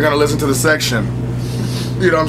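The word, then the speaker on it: Sextion: Now, on the second CD, there's The Section. It's spelled S-E-X-T-I-O-N.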